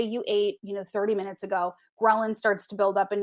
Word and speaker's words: ghrelin: And that other one that I can't remember or pronounce, Ghrelin. Yes. Ghrelin? Yes, ghrelin. Think of gremlin, and that'll probably just confuse you.